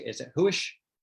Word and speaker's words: Huish: I'd love for you to, what is, am I pronouncing it? Is it Huish? Huish.